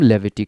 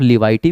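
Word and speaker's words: levity: वैसे कंडीशन में हम लेविटी का यूज़ करते हैं, ठीक है मेरे भाई। आप लिवाइटी भी पढ़ सकते हैं, मेरे हिसाब से तो लेविटी ज़्यादा बेस्ट है, प्रोनाउंसिएशन ख्याल रखना है।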